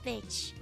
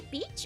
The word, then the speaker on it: pitch: It's like a football pitch, you know, or a baseball pitch. That's how you pronounce it, no? Do you say peach? A baseball peach? I don't think that's how you say it.